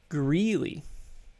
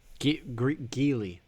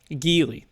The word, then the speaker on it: Geely: So, let's move on to another company, one called Greeley. Geely. Geely, sorry. There it is. There's no R in there.